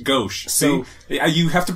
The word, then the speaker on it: gauche: Is gosh the way you pronounce that word? Gauche. Gauche.